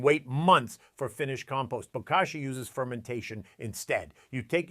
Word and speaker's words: bokashi: It's called bokashi, pronounced bokashi, and it's fundamentally different from the traditional compost pile most of us grew up with.